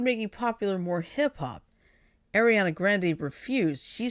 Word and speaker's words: Grande: it's pronounced Grand yeah it's like you know when you order from Starbucks they call it a grande right you're right it's